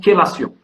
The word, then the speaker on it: chélation: Ça s'écrit chélation, mais ça se prononce chélation.